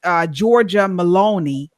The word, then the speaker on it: Giorgia Meloni: So, of course, that was the incomparable PM of Italy, Miss Giorgia Meloni.